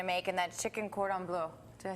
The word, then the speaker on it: cordon bleu: Okay, so in the first segment, we talked about what we were actually going to make, and that's chicken cordon bleu.